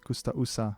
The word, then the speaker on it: Coustaussa: Yes, Coustaussa and not Coustaussa.